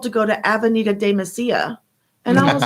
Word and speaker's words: Mesilla: go to Avenida de Mesilla. And I was like, oh, okay. Now, I didn't know what that was. I didn't know that two L's are not pronounced two L's.